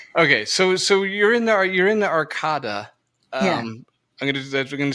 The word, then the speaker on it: Arcada: Okay, so you're in the Arcada.